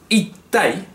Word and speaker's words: いったい: Tiene que petar esto, ¿eh? Tiene que sonar aquí fuerte.